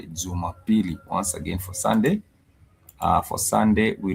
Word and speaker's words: Jumapili: For Sunday, we refer to that as Jumapili.